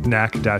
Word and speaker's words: knack: me a podcast at knack - factory calm that's podcast and Kate and ACK - factory calm that silent K kills every time and you know without